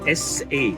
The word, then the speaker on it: Sa: The duck or the geese we pronounced as S-A, Sa. Sa Ra.